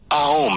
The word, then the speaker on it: ओम: आओम है। ओम को एक्चुअली में कैसे प्रोनाउंस करना है, ये सुनकर अगर आपको ये